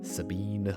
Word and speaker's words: Sabin: Sabine. Sabin. Sabin, Sabine. Sabin. Sabine would be with an E at the end. Or the French pronunciation.